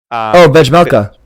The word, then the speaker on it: Vejmelka: Vejmelka.